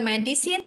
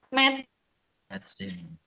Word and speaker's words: medicine: Jadi itu bacanya bukan medicine, tapi bacanya adalah medicine. Jadi medicine. Gini bacanya.